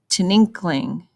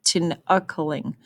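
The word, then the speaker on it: Tinikling: It says, Tininkling, Wait, let me pronounce that better. Tinakaling.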